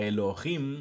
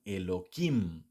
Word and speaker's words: Elohim: esos títulos entonces dicen am monay incluso a Elohim muchas veces algunos Elohim digamos no algunos es por por pronunciación sefardí as que nací yidish o lo